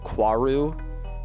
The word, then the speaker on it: Kaoru: It's crazy how in End of Evangelion they decide that they're actually pronouncing Kaoru Kwaru, which is not how they say it in the show.